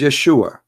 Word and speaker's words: Yeshua: pronounce the correct word the correct word in the Hebrew is Yeshua as simple as that so it's because it's